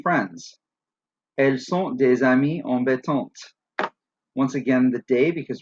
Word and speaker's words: embêtantes: Embêtante has a silent E and a silent S to make it feminine and plural. The silent E makes the T at the end sound out.